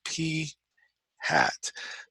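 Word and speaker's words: p̂: Okay, this guy is pronounced P hat.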